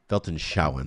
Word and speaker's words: Weltanschauung: There's a German term called Weltanschauung, Weltanschauung, that's how you pronounce it, Weltanschauung, which is like